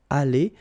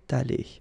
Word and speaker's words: allée: But then phonetically it doesn't exist, all right? So it's aller here and then aller here, the way you pronounce it. But if you want to write correctly, you should put it.